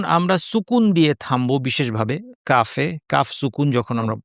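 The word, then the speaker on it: كاف: আজকে যেই হরফটির কথা বলব সেটি হচ্ছে কাফ। কাফ হরফটি আমাদের অনেকের ধারণা যে এটা বাংলা ক এর মতো এবং এটা উচ্চারণ করা সহজ।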